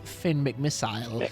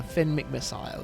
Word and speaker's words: Finn McMissile: And I love that they kind of use that British pronunciation of McMissile as opposed to, in America, we just call him Missile. But yeah, Finn McMissile.